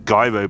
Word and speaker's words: Gyro: The weapon is the Hidden Gyro Blade, or Gyro Blade if you want to be wrong. I believe it's Gyro Blade is the correct pronunciation.